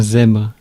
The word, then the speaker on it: zèbre: Un zèbre. So it's un, le, it's masculine. Zèbre. It's about the Canadian accent. Zèbre. Zèbre. So they are pronouncing the bl, but it's zèbre, br.